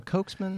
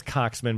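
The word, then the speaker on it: Coxeman: some of the uh is it cocksman or cokesman it's cocksman but they spell it coke because they didn't want to be too dirty okay so he wrote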